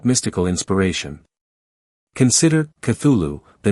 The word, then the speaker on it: Cthulhu: The guttural, cth opening, the liquid middle, the abrupt ending. This was phonetic engineering designed to suggest physiological incompatibility. In his letters, Lovecraft provided multiple pronunciations, Cthulhu, Cthulhu, various approximations, each inadequate.